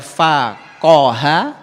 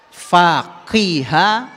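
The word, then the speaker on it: فقه: Karena kata ini akarnya bisa dibaca faqaha, faqiha, faquha.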